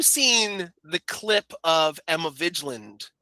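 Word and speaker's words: Vigeland: So, also, have you seen the clip of Emma Vigiland? Is it Vigiland? Is that how you pronounce it? The Majority Report. Vigand. Emma Vigland from the Majority Report.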